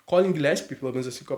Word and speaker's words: Gillespie: Colin Gillespie, acho que é assim que se fala, né? Gillespie, enfim, um quezinho de italiano ali, imagino que seja assim que se pronuncie. Colin Gillespie, pelo menos assim que